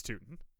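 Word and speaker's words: Tuten: Adam, I will have you know that I'm pretty sure it's pronounced Bishal Tutton. Is it Tootin? It's Tootin.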